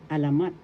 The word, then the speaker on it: alamat: one is alamat Mat alamat alamat that is legend in English alamat first syllable a second syllable la and third syllable mat the accent is in the third syllable alamat alamat legend in